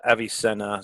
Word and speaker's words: Avicenna: doing is we've created a telepsychiatry practice called Avicenna so it's spelled a VI c e and an a